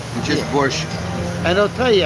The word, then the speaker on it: borscht: It's borscht. I can't say it right. I'm American. Borscht. Without K in the end. Just borscht.